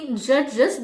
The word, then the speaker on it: judges: In judges, the plural ending is pronounced as is because the base ends in a sibilant sound.